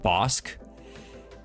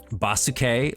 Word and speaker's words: Bauske: It's pronounced Bosque. Um, but a lot of people see it and call me like basuk. Like they they transpose the S and the E or the S and the U, excuse me, to make